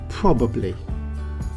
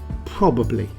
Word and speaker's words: probably: let's pronounce it together probably probably now it has three syllables and it's not as